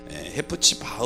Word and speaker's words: 헵시바: 그렇게 하지 아니하고 너희를 헵시바 라 부르리라 입시반 은 정확히 발음하면 해 프 치바 우 라고 하는 말인데요 나의 기쁨이